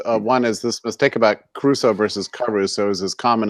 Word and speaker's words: Crusoe: Crusoe was the guy on the island. Enrico Caruso, he's making a dumb joke. Enrico. But anyway, No, it's not a joke. It's I'm referencing your crazy the mispronunciation. Caruso economy, Robinson Crusoe, not Enrico Caruso, for Christ's